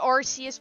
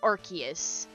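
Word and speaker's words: Arceus: I was the Arus person and then I learned to say Archus.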